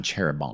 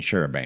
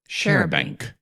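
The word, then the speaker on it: charabanc: Although the pronunciation guide spelled it with a G at the end, but he's clearly saying Sherbank, not Sherbang. So, Sherbank. Sherank. Share, not chair.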